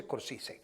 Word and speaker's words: Scorsese: Bueno, se pronuncia Scorsese.